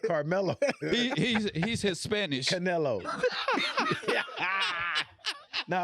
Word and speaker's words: Canelo: Canelo.